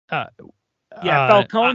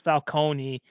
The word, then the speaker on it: Falcone: And you know what's Falcone, there's 2 different ways people pronounce it. There's the Nolan way, which is Falcone, and the Gotham TV show, which is Falcone.